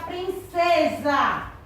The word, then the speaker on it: princesa: Quando nós pronunciamos a palavra princesa, sua escrita do seu som é com quê? Com Z, mas a escrita na língua portuguesa é com S.